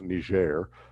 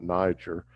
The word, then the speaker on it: Niger: colony and so uh the british would pronounce it nigeria the french would pronounce it close to niger so anyway uh just